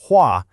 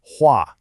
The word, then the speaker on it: 画: The first character you see is huah and it's pronounced huah.